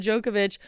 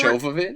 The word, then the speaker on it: Jovovich: Okay, and then Mila Djokovic. Wow, they Jovovich?